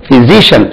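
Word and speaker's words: physician: எஸ் ஐ சிஐ ஏன் I suppose spelling but உச்சரிப்பு பிசிஷியன் பிசிசியன் பிசிசியன் ஐ அம் அ மியூசிசியன் எப்படி நம்ம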